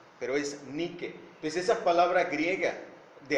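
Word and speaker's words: νίκη: tomada para el inglés que conocemos que se pronuncia nike pero es ni que desee esa palabra griega de ahí fue tomada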